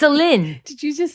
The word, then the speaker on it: Aline: No, it's Alain. No, it's Aline. It's Aline. Did you just say Alain? Like, Because I've been saying, Alan? that's what I've been saying for 7 years. It's Aline.